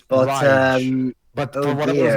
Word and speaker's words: Raige: Like, oh, he's named Rage, but he doesn't show much rage. That's the thing, Jova. Even though it's pronounced Rage, the actual way you write the name is Raige. It's But Rage.